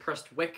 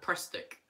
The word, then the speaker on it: Prestwick: I don't care if they actually pronounce it Prestwick, it seems more out to call it Prestick.